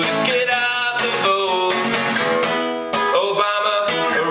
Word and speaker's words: Obama: get out the boat Obama rhymes with pajama you're the one that